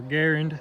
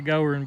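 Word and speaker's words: Goerend: and then I put a Goering or Garand as they pronounce it I'm from the south so for some reason I say go run but anyway um they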